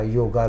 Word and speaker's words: योग: ले कि इनको यह नहीं पता कि योगा पढ़ना चाहिए कि योग पढ़ना चाहिए वाय ओ जी ए लिखा जाता है लेकिन होता है वाय ओ जी योग पढ़ा जाता है ए हिंदी में साइलेंट होता है ए हिंदी में साइलेंट